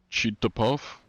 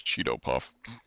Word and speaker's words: Cheeto Puff: Thank you, Larry, Cheetah Puff? But cheat spelled with... No, that's Cheeto Puff.